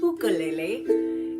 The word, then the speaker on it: ukulele: Well, actually, the name ukulele, or in Hawaii they pronounce it ukulele, actually means jumping fleas.